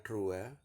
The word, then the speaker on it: droit: Perancisnya droit, tulisnya droit, bacanya droit.